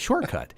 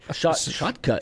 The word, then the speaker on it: Shotcut: OBS Studio, thank you, Brock, on that one, and Shortcut. Shotcut.